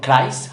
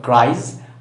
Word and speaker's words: cries: Se pronuncia con un sonido de za, de vibrato, no una S, no cries, hurries, replies, sino cries, hurries, replies, ¿cierto?